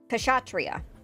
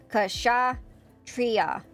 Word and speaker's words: Kshatriya: the Cinderella like um how do you pronounce this model? Kash uh Kashhatria. Kashatria Kashria. There you go. I found that out today. That's how you actually pronounce it.